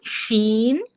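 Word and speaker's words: ش: এরপরে আসলাম আমরা জিহ্বার মাঝখানে, জিহ্বার মধ্যখান তার বরাবর উপরের তালুর সাথে লাগিয়ে ৩টি হরফ উচ্চারিত হয় জিম, শিন, ইয়া।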